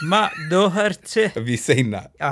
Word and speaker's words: Doherty: episode 3 and the podcast with Bradley, is pronunciations. Oh, okay. So it's Doherty. So it's it's Matt Doherty.